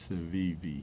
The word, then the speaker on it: Civivi: But the other day I saw online a knife from Civivi. I think that's how you pronounce it. Civivi, yep.